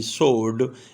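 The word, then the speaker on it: sword: کا letter silent ہے۔ ایس ڈبلیو اگر کسی ورڈ کے شروع میں یا درمیان میں آ جائے تو ڈبلیو کا لیٹر سائلنٹ ہوتا ہے، ایس ڈبلیو او آر ڈی، سوڈ، اس میں ڈبلیو کا تلفظ نہیں کیا جاتا۔ ٹی سی ایچ اگر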